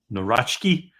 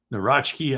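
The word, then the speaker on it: Nawrocki: And I think uh what's the I was talking with the poll this morning about how to pronounce it. I think Narachki, Narachki, I think is the way he says it's supposed to be pronounced, the the new president.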